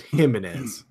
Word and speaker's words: Jimenez: joke the joke was it's too bad that his name is James and then they pronounce it him so he could be he and geminis him instead of Jim Jimenez all right I'm